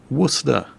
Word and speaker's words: Worcester: This is the USS Worcester. Yes, really. What? But it says Worcester. No, really, it doesn't. The ship was named after the town of Worcester, Massachusetts, which itself was